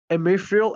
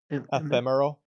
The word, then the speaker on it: ephemeral: But faced with this emrial, how do you say that word? Emil ephemeral.